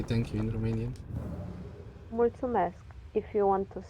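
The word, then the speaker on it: mulțumesc: how do you say thank you in Romanian mul mask if you want to say it in formal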